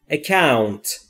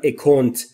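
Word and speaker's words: account: اکاونت، اکاونت یعنی حساب، حساب بانکی. اکاونت، اکاونت. دوستان در مورد تلفظش دقت بفرمایید، نگفتم اکونت یا اکانت. اکاونت، او او، صداش این شکلیه.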